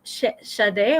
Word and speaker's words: Sade: Is it pronounced Sade or Say? Sade. It's Sade?